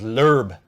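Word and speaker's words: Loeb: uh English American and they call him Sebastian lobe yes so someone in our video that I did last week called him said it was lurb and you that that may be how he pronounces it in his native tongue but here the way that's spelled it's l so anyway um the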